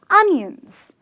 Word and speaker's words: onion: Or are they onions? Well, I must tell you, it's the latter. Though there is an O in the spelling, these are onions, as in the pronunciation goes onion, okay?